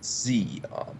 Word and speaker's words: Xeon: Anyway, so phonetically Xeon. Xeon. Xeon.